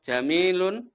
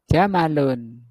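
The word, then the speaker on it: جَمَلٌ: Hadza jamilun gitu. Oh, bukan. Hadza jamalun. Oh, iya. Masyaallah. Hadza jamalun. Mimnya pendek. Mimnya pendek. Jamalun.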